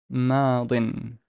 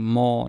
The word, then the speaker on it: ماضٍ: ماضٍ. ماضٍ. You're basically what you're doing is you're velarizing the meme. You're pronouncing ma. No, it's ماضٍ.